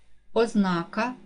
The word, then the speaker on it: ознака: падає на другий склад ознака наголос падає на другий склад черговий наголос падає на